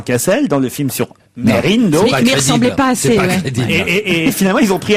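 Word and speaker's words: Mesrine: dans le film sur messerine Vincent Cassel a précisé qu'on disait pas messerine mais Merine Merine on a toujours dit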